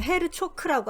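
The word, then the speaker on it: Herzog: 누가 썼냐면은 에드가 헤르조그, 헐조그. 이거 독일 사람인데요. 독일식으로 발음하면 헤르초크라고 합니다.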